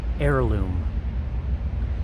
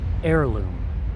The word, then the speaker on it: heirloom: students the word heirloom the letter H is silent you pronounce it like air like you're breathing heirloom heirloom good so heirloom valuable